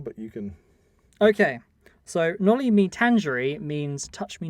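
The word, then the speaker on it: Noli me tangere: Can you pronounce it? Can you remember? Nolly me tangerine. I don't know. Nolly me tangere.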